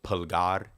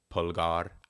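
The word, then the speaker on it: pulgar: Spanish speaking you can correct me if my pronunciation is horrible but pgar is the thumb p u l g a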